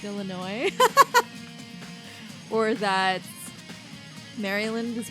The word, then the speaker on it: Illinois: I used to say the S in Illinois. We all did in Alabama. It wasn't until I left Bama that I learned you don't say it.